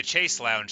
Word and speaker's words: chaise lounge: Like, there's a particular kind of furniture, the chaise lounge, but, like, here we would say the chase lounge, because of course we would.